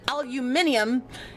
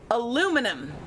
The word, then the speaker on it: aluminum: So, anyone who calls it aluminium is wrong. And I will I will No. Shots fired to Chad. I don't care. I don't care. The person who named it was from America and it's supposed to be aluminum.